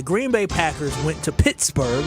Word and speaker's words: Pittsburgh: Bay Packers went to Pittsburgh that's how you say it right start 2025 saying that off right and they lost he used to call it pixburgh they lost but after